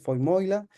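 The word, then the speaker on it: Vermeule: Harvard que es Adrián lo voy a pronunciar en alemán es fo moila eh que En definitiva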